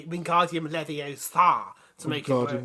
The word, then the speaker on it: Wingardium Leviosa: It's pronounced Wingardium Leviosa.